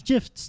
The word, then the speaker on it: GIF: stance of development is gif is with a hard G it's a big conversation